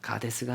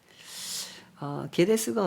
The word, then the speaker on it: 게데스: 제가 발음을 잘못했습니다. 게데스입니다. 가데스가 아니고 게데스. 게데스가 어디입니까?